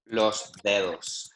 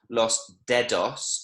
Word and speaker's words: dedos: And that's another word, again, when we need to get into the habit of pronouncing the D slightly softer and the E quite strongly. So it's not los dedos, it's los dedos.